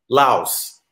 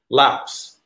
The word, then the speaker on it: Laos: over a while because the country is named laos yep it's pronounced laos and i used to argue it's pronounced lao